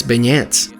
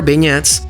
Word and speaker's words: beignets: they usually say well it's like the name Ben and then e in the American way so it comes out